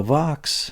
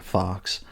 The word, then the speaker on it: Vox: Now, Vox, that's V-O-X. I know I can't pronounce words. I don't want you to think I'm saying fox, like the little animal.